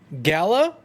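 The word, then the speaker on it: Galar: open with a question Galla or gal our gal our owl our if you listen to the trailer over and over and over again make the R is silent no it's not life is crazy you're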